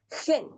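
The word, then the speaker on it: ἕν: La primera palabra con espíritu suave se va a pronunciar en y la segunda palabra que tiene espíritu rudo se va a pronunciar gen. Gen.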